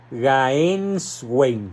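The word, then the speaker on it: Gänswein: XVI autor el arzobispo Georg Jorge George gaens Wayne se escribe gans Wayne games Wayne está siendo publicado este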